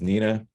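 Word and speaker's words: gnina: It's pronounced Nina.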